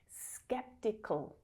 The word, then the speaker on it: sceptical: Skeptical, skeptical. It's a little bit hard for you to do to push those two consonant sounds together. Just imagine a teeny tiny little schwa sound in there.